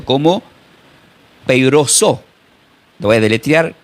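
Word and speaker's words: πειράζω: Esta palabra tentado en el griego se pronuncia como peiroso.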